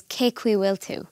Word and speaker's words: Cén chaoi a bhfuiltear: While it is written as Cén chaoi a bhfuiltear, it's actually pronounced as Cé chaoi bhfuiltear.